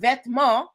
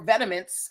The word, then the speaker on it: Vetements: This word vetma or vetiments as as Americans like to pronounce it means clothing in French.